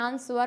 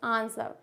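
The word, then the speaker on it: answer: है साइलेंट होता है डब्लू is silent before are जब भी आर आए उससे पहले अगर डब्लू होगा तो डब्लू क्या हो जाएगा साइलेंट हो जाएगा जैसे कि आंसर क्या हो जाएगा आंसर क्या डब्लू आता है उसमें आंवर होता है नहीं इट्स आंसर नेक्स्ट आता है अरे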